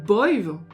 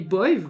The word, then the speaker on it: Badb: Et enfin, la Banshee est appelée Boive, alors avec différentes prononciations selon les régions en Irlande, mais elle est appelée Boive, comme Boive Caha, le corbeau.